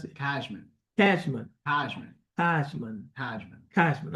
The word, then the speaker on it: Cashman: Cashman. How you pronounce it? Cashman.